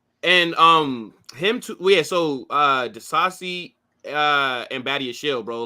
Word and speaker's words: Disasi: Disasi or Diasi? I don't know how to say his last name. No, Disasi. Yeah, you said it right.